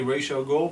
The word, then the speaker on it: Ra's al Ghul: So it's definitely Ra's al Ghul, but we'll see.